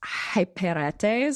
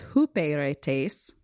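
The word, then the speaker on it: ὑπηρέτης: that uh to me it should be pronounced hyperetes. So if you're doing your own strongs work, you can try to use that pronunciation, but apparently it's hooperetes.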